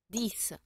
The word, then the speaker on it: dix: Dix. Dix. No, dix. Igual que six, dix. Como si fuera una S.